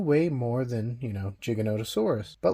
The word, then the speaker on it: Giganotosaurus: scientific book and or if you look at how Rodolfo Korea you know the person that actually named Giganotosaurus says it it is Giganotosaurus and not how Jurassic world pronounced it now these are very